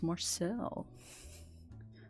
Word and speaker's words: Marcille: poster color yeah it's Marcel at least I'm pretty sure it's pronounced Marcel I watch delicious in dungeon in Japanese so I assume it's Marcel but she's a super